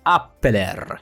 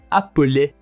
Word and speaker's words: appeler: And the last one, it is not appeler, it's actually appeler. Again, we do not pronounce the final R.